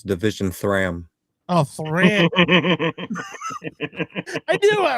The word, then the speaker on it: Division 3am: You mispronounced it. It's Division Thram.